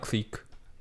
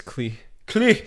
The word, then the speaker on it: Klich: It's not clique. How do you pronounce it again? It's Klee. Klich.